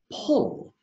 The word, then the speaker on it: pull: word is hole what's the word that's right pull this word is unfair because you says ah